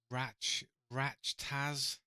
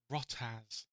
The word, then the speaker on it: RachtaZ: Maybe it's like the word yacht, like a yacht, right? So like a yacht, but like as, then just change it to a R.